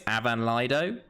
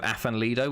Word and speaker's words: Afan Lido: think it's it's apparently my welsh friend told me it's avan laido uh instead of afan lido which i pronounce it i pronounce them all wrong um and also the